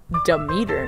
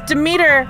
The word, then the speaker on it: Demeter: So we have Demeter next.